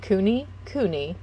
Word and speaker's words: Kune Kune: you know like blue um let's see it's pronounced kuni kuni and the word means fat and round in